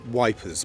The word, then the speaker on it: Ypres: the Belgian town of Ypres which they the Tommies pronounced as wipers because very difficult to pronounce what what was very